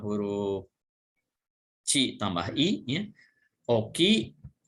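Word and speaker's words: 大きい: Oki, ini O artinya besar, harus dua O-nya. Kalau ditulis dengan hiragana.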